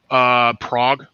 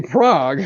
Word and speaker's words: Prague: Prague, Oklahoma. Wait. You got to forgive me when you say Prague. We're in a It's spelled Prague, but they actually pronounce it Prague here.